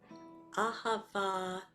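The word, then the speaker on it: אהבה: holiday of love ahava has three syllables anybody if we you were in our workshop secrets of the 13th octave you know that three is a mystical and magical number it's not an accident that there are three syllables and each one starts with an ah that's also not an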